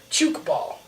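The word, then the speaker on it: tchoukball: the world over uh it is always called chook ball like like the word juke with a ch at the front ch i think it's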